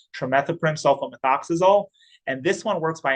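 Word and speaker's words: trimethoprim sulfamethoxazole: If you want to practice this a little bit, it's pronounced trimethoprim sulfomethoxazole.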